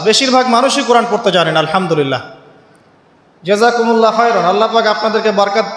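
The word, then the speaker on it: الحمد لله: আপনি পড়ছেন আল্লাহু আকবার আলহামদুলিল্লাহি রাব্বিল আলামিন এইতো আপনি পড়ছেন আলহামদুলিল্লাহ শব্দটা কি আলহামদুলিল্লাহ এই হা এর মাখরাজ কোথায় হা এর মাখরাজ কোথায় বলেন একজন কণ্ঠনালীর মাঝখান থেকে এখান থেকে আপনি উচ্চারণ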